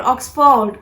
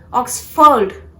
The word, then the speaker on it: Oxford: No, it's not Oxford. It is to be pronounced as Oxford.